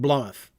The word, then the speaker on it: Blotmath: Often, Blotmath, often pronounced Blomath.